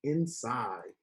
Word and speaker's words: inside: The word was inside. It, I, inside. And the E at the end makes the I say its name.